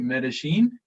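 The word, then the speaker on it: Medellín: aspects of Colombian culture around, I hope I'm pronouncing this right, Medellin?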